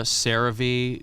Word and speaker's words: CeraVe: Because I used to call it Cera.